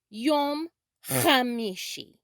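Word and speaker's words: יום חמישי: now you try it yom khamishi it's also acceptable to say yom ha mishi yom ha mishi if the ch h sound is a little too difficult to begin with but keep trying you'll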